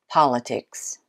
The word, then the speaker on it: politics: Number eight is politics. Politics. This one's easier than the last one. Are you ready? It's the first syllable.